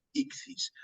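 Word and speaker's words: ἰχθύς: por el inglés se suele llamar ictus pero si lo hacemos literalmente como a mí me gusta desde el griego porque son es un acrónimo son iniciales griegas lo hacemos directamente al Castellano la pronunciación sería icis Por qué pues aquí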